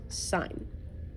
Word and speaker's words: sine: change this to sine not to be confused with sin it is pronounced sine okay so it's asking